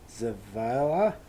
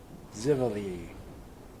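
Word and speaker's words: Xivilai: Zavala? Zivali. Zivali. Zivali? Yeah. Zivali, yeah. Because that's how X's are fucking pronounced.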